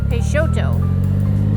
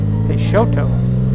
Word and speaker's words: Peixoto: So the name is pronounced Peixoto. Peixoto.